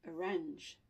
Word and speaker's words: arrange: And the way you will see it here, you'll have a schwa, and you have the second syllable, range. So, you know, and you will have a little symbol here. Can you see it? It looks like an apostrophe, but it's not an apostrophe. It's a little symbol. I don't actually know what it's called, believe it or not. But it tells you that the stress is going to be on this syllable.